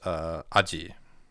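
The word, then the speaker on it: 味: Um and then on its own it's pronounced aji. So like sono aji wa ii desu yo.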